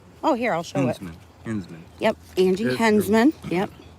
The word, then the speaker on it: Henzman: Henzman.